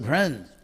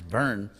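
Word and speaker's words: भृत्: So he says, Bhuta Brin, this word which would be pronounced Brin, but actually the real pronunciation is burn. It's like the English word burn. That's the vowel R.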